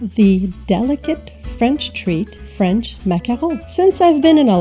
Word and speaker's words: macaron: a few things straight this is a mackerel or you could pronounce it macaron in english this is a macaroon